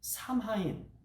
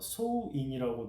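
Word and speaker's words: Samhain: 합니다 예 그런데 그 켈트족이 삼하인 혹은 어 소인이라고 이제 발음하는데 그 축제를 이제 했는데 그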